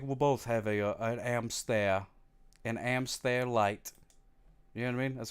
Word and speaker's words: hamster: comes in but anyway here's how you say hamster in French yeah amster how do you say